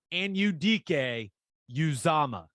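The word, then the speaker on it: Anudike-Uzomah: of the week where I'm making sure that pronunciation is something I have ironed out by Saturday. I got you. Felix and Udike Uzama.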